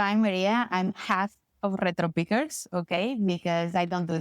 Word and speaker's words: Retropickers: Like 2 words. Retropickers. Retropickers.